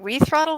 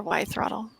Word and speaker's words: Y throttle: Is it We throttle or Y throttle? Why? Like okay, Wi-Fi. so been kind of saying it wrong, maybe. Have you been saying We throttle? I think maybe that's what they told me. All right, now I know.